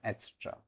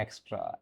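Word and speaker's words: et cetera: इसका सही प्रोनाउंसिएशन है एट्सेट्रा। क्या कहेंगे? एट्सेट्रा, इत्यादि के सेंस में हम यूज़ करते हैं। तो इसका देखो, कुछ स्टूडेंट जो होते हैं इसका प्रोनाउंसिएशन करते हैं एक्स्ट्रा। एक्स्ट्रा नहीं होता है, एक्स्ट्रा नहीं होता है, एटसेट्रा होता है।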